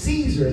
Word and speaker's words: Cesar: The hard part is my name is Caesar, but it's spelled C-E-S-A-R, like Cesar.